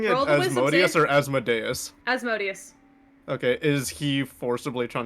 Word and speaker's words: Asmodeus: okay is it okay is is are we pronouncing it as modius or asmodeus asmodeus okay is he forcibly trying to get me